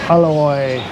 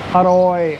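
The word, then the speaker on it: อร่อย: A loy. Or the correct speaking version or central Thai is aroi aroi. You kind of roll your R a little bit.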